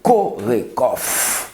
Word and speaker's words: CORECOHF: communauté haïtienne de france nous parlons de corée kof c'est comme ça se prononce coiffe mais c'est quoi exactement